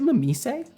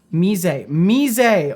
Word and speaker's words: Mise: seen you and thought, is it Mamise? Is Mise. Okay, thank you. Pronunciation. Mise. I will remember that.